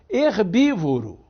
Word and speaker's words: herbívoro: isso é uma contradição herbívoro é uma outra contradição porque a gente não pronuncia esse h n é então na realidade